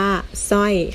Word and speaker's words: สร้อย: อ้อย นะ คะ เวลา สะกด นะ คะ เรา จะ สะกด ศ. รอ อย สอย ไม่ โทร สร้อย นะ คะ คำ นี้ อ่าน ว่า สร้อย ค่ะ หาก กลับ ไป มา ดู พยัญชนะ ที่